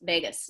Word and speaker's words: vagus: vagus nerve las vegas if you want to know how to say the vagus nerve think las vegas vegas nerve um it strengthens it